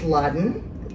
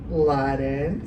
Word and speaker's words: Ladan: It's Ladan, just kind of like, have you been? Laden. So like you get rid of the bin in Bin Laden and you get rid of the bad.